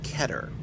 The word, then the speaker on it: Keter: How language works, but the actual word is Hebrew, and it's supposed to be pronounced Keter. So if someone does say that's Keter, right, they are not wrong, and really have a better claim to being right than I do.